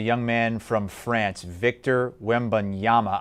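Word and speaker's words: Wembanyama: man from france victor wembonyama i believe uh that is that is how it's pronounced i'm not 100 we'll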